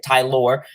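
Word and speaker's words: Tylor: we know tyler mcgill that's how you say his name ty lord not not taylor or you know yeah ty lore tyler mcgill pitched pretty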